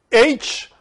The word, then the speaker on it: Hyle: H-Y-L-E, Hyle. This is how it's said in Greek.